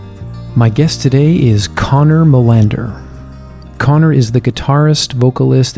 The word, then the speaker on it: Molander: How do you say it in the proper Scandinavian pronunciation? I think it's Molander.